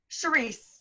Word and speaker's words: Charisse: do you say your name can you use Cherise Cherise Oh bingo okay I had actually requested your